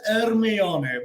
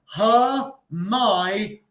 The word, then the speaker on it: Hermione: Potter, quiero comentaros que la pronunciación de la chica en Harry Potter no es Hermione, ¿vale? No es Hermione, ni es Hermione. En inglés se pronuncia Hermione.